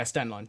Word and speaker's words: Stenlund: And rounding it out in the center, number 82, Kevin Stenlund. I believe that's how you pronounce that as well. Stenlund? Yeah, Stenlund, yes.